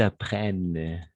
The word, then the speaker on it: apprennent: Et qu'ils apprennent. D'accord? Apprennent. ENT à la fin, on ne prononce jamais.